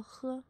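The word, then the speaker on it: ㅎ: 个圈，它你可以把它当作喝喝喝的发音。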